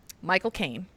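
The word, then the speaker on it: Michael Caine: Michael Kaine. Um, to say his name in his accent. Yeah. The the trick is you just say the words my cocaine. Yeah. Hello, my name is my cocaine.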